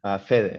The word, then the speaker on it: Fede: If it's Fede or Feed. If you'd like to introduce yourself and say hello, then you're welcome to. Yeah, you're the first person that pronounced it the two ways. That's awesome. Fede is fine.